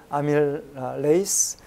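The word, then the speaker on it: amylase: 이게 영어로는 우리가 리파제 이렇게 다 붙이고 배웠는데 원래 영어 그 발음으로는 페이스라 그러더라고요. 아밀레이스, 락테이스, 그다음 리페이스.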